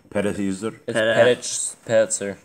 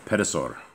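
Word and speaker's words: Pedahzur: you're going to say perez how's it actually supposed to be pronounced ped oszur pedosaur all right and his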